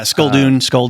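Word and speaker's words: Sculdun: Should I pronounce his name? Yeah, Skulldun.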